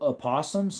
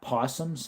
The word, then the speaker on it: opossums: You know, they're actually called opossums, not possums. They have an O in the front, right?